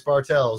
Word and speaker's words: Bartels: Audience, it's Nostalgic Podblast, written by Bartels, directed by Bartels, all roles acted by Bartels, with the all Bartels girls. Rhymes with fart tells.